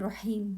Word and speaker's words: رحيم: In Rahman, the word Rahman and Rahim, both ha. Try to make it very clear.